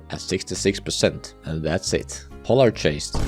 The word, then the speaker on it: Polargeist: Polargeist, and yes, I'm pronouncing it with a soft G, is a different story though.